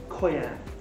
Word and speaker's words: Coyam: Pronunciation for the label, Coyam. Coyam.